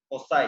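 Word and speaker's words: foci: तो फोकस का plural form फोकी होता है, और कोई कोई इसको फोसाई फोसाई भी पढ़ते हैं। और हम लोग इस पूरे लेक्चर में फोकी की तरह इसको ट्रीट करेंगे, और फोकी हम लोग प्रोनाउंसिएट करते हैं करेंगे।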